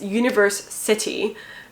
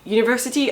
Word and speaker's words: Universe City: I'm trying to pronounce it the way it should be, which is Universe City, and I mean Universe City and not University, although it's a play on that word, obviously.